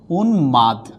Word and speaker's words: উন্মাদ: কথাও যদি বলি সেম এখানে আছে কি উন্মাদ তাইলে হচ্ছে কি উন্মাদ হয়ে যাচ্ছে কি ম উচ্চারিত হচ্ছে কি হচ্ছে ম উচ্চারিত